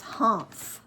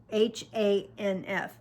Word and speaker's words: Hanf: Her father's name was Hanf, Hanf, German. Nobody could ever pronounce it. I always thought it sounded like you were sort of clearing your nose and your throat.